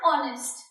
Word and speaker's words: honest: So he is an honest. Here H is also silent.